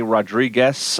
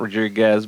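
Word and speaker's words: Rodrigues: Minnesota according to Johnny Rodriguez I guess how you say it it's not Rodriguez but Rodriguez head of the Zimbabwe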